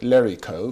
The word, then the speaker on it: Lorica: Is that the right spelling, the right pronunciation? I call it Lerico.